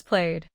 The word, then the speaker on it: played: After a voice sound, except D, ED is pronounced as D. Call becomes called. Play becomes played. Both words keep one syllable.